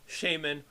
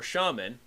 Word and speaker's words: shaman: Both the American and English conventions are technically acceptable pronunciations. So one could say either shamanism or shamanism, shaman or shaman.